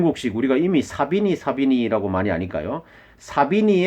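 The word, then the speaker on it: Savigny: 에 자 비니 이 독일 언론은 발음으로는 자비 닌데 영국 치기 예 발음으로 사빈 입니다 그래서 이제 0 혹시 우리가 이미 사비니 사비니 라고 많이 하니까요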